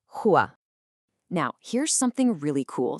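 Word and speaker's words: هو: That's pronounced huwa.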